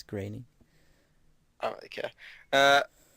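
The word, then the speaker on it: Groening: i think i know i always said groaning but apparently it's grainy i don't really care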